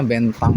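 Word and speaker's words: Bến Thành: Ini bacanya bentang ya. Bentang Market.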